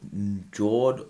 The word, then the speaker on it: Njord: Okay, guys, now we're down here with the Njord RDA, or Njord, I pronounced it with the J silent, the Njord RDA, guys.